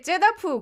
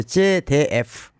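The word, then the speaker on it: ZDF: 독일의 제다프 공영방송이 있어요. 거기서 10년째. 발음을 정확히 해야 되는데 제데프.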